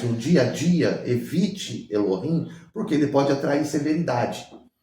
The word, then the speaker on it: Elohim: impronunciável e o nome Elohim né que a gente fala Eloim porque o nome Elohim